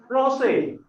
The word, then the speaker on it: Français: Français. Français is French. Français. So the pronunciation is little bit so.